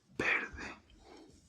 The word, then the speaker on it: verde: A fun fact is that the letters B and V are both pronounced the same in Spanish, so it's just verde, even though it has a V.